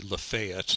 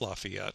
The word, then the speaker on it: Lafayette: something recently that uh the correct like local pronunciation of the name of this road would be lafayette not lafayette so uh but anyways